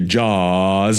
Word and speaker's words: Jaws: It rhymes with saw, but it's actually Jaws.